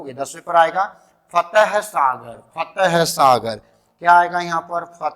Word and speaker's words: फतेह सागर: फतेह सागर। है साइलेंट है, अपने हिसाब से मत ठोक देना, झील ज्यादा हो जाएगी।